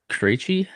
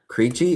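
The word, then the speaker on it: Krejčí: Kachchi. Creeche. Creeche.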